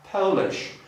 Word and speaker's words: Polish: A jeżeli chcemy powiedzieć o naszej narodowości, czyli polskiej, będziemy używać dyftongu, czyli dwudźwięku i będziemy pisać to w ten sposób.